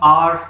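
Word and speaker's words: ours: Mine, आर्स, कुछ आवर्स पढ़ते हैं लेकिन एक्चुअल प्रोनाउंसिएशन इसकी क्या होती है? आर्स।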